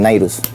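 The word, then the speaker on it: Nyruz: Nairus, ¿cómo se escribe ahí? ¿Cómo suena? Nairus.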